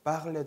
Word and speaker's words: parler: 동사 원형에 있는 R를 발음하지 않는다는 거예요. 그래서 예를 들면 parler 동사, 네, 말하다 동사, parler 동사도 R를 발음하지 않아요.